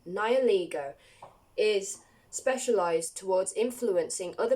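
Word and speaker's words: Nihilego: resembles a jellyfish now it says nearly nialligo Naya ligo sounds better but that's not how you say it nioligo is specialized towards influencing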